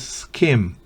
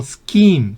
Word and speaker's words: skim: Scheme sería un fraude, aquí es skim, no scheme, sino skim, es desnatar.